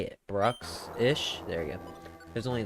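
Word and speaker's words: Bruxish: Brooksish.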